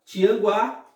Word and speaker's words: Tianguá: do que como é o caso da palavra tianguá e a palavra quadro observe que na palavra